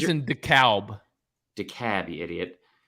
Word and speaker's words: DeKalb: No, it's pronounced DeKalb up there, and I promise you that. Is that real? Yeah, that's real. I didn't mean to call you an idiot. I'm sorry. It's my bad. My bad. But it is spelled exactly like DeKalb, Georgia, which is why you thought DeKalb that.